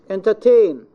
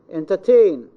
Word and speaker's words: entertain: I say, for example, entertain, entertain, ain, this is diphthong. So it is stressed.